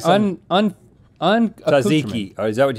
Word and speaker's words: tzatziki: I like some Tzatziki. Is that how you say it? Tzatziki?